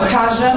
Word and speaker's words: Tajwa: I came here and I said to Tristan, how do you say this young lady's name? Because I don't want to mess it up. He said, Claire, Tajwa. So Tajwa, I do apologize.